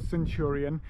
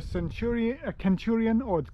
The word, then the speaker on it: centurion: Now, the interesting thing is the Romans probably didn't say the word centurion. We have a soft C in English today. They probably would have used the sound that we now use as a hard K.